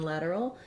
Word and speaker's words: lateral: If that gives you trouble, focus on starting with your lad syllable where the stress is, lad, and then add your breaking it down, lateral. So it might be helpful to put the D here in this syllable. I just like to write the word lad there because that helps you know that that letter A is the black cat sound.